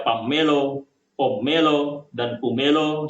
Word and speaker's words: pummelo: And this is even more doubtful if we look at the variants of the English names of 'Pomelo', such as; 'pomello', 'pummelo' (pronounced 'pammelo'), 'pommelo', and 'pumelo' (pronounced 'pamelo'), because in the Javanese language, there are almost no double letters in words or sentences.